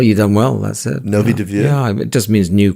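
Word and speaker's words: Nový Dvůr: And in the case of the monastery of Our Lady of Novi Dviu, how do you pronounce that? Well, you've done well, that's it. Novi Dviu?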